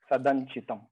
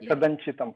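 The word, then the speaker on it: सदञ्चितम्: I understand from the writing it is na plus ya, but when I chant is as if it is na, Sadanchitam. And I hear also like Sadanchitam.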